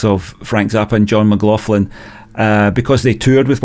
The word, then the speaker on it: McLaughlin: about Frank Zappa versus John mlin or I should say John mlin that's how you say it apparently um is it yeah